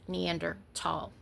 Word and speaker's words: Neanderthal: In English, that would be thal, but they don't have that. It's Neanderthal.